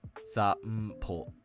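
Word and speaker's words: 散歩: Same with sanpo. It's not sa n po. It's sa m po. Sanpo.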